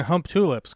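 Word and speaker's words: Humptulips: Try saying hump tulips, because that's the way you actually say it.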